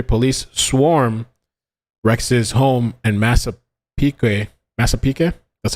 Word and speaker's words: Massapequa: July 14, 2023, police swarm Rex's home in Massapequa, that's how you say it, Park, Long Island.